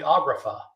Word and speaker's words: agrapha: Actually, those are called the agrapha. Agrapha is spelled Agrapha, grapha, like in graphite, the thing in your pencil, the thing you write with, and agrapha is something not written.